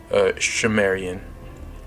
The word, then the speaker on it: Sumerian: He writes, "It is also reckoned that the subsequent culture of the region, phonetically called Sumerian, pronounced Shumerian, was actually, I can't even read that, it says it right here, Simurian, okay.